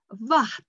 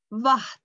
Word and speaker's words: vatn: This is a very difficult word because it has some Icelandic, special Icelandic pronunciation. We have to use our nose and the tongue. And it is vatn, vatn. Use your nose, vatn, water, vatn.